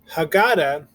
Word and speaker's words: haggadah: you hear it happy at the end of the word the h is silent so if you go back up let's look at our key word again haggadah it's not ha we